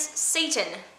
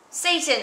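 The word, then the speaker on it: Seyton: Whose name is Satan. But it's not spelled like the devil. Satan, I am sick at heart when I behold.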